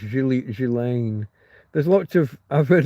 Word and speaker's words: Ghislaine: Ghislaine, yeah, pronounced Ghislaine.